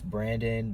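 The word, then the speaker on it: Brvndyn: n d y ncore it's Brandon but the a is replaced with the letter V you know um up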